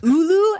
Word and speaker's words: olo: So that color was OLO. I actually don't think that's how it's pronounced, but I I'm gonna call it olo. It's ulu, actually.